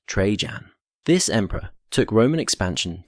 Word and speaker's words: Trajan: Trajan, pronounced Trejan.